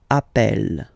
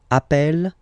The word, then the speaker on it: appelle: You tend to pronounce it like really open. That's the reason why you pronounce it appel. Okay, appel, and appel.